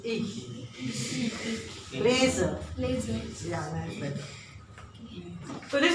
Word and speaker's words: lese: Not z. It's a z. Ich lese. No. No. It's a z. Like the bee is doing z.